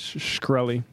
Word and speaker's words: Shkreli: I think it's Shkreli.